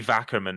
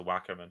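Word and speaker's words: Wackerman: w-a-c-k-e-r-m-a-n okay so just it could be vackerman as opposed to whackerman it probably is vacuum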